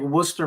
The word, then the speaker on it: Worcester: That's like Worcester, Massachusetts. You see the sign when you're going to go over there, and it's Worcester, but you say Yeah. Worcester. Oh, like Worcester?